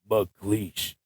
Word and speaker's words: MacLeish: literally a beast and it kind of rhymes with mcash so why not dj the Beast mle I mean I like